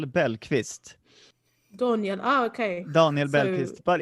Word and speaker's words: Bellqvist: I think in Swedish I would say Daniel Bellqvist. Daniel. Okay. Daniel Bellqvist, but in English I say Daniel Bellqvist.